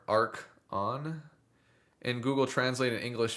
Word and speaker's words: Archon: Um not to be mean about it but the pronunciation of Archon is like uh Orkin with an A. How you would say is more ark on.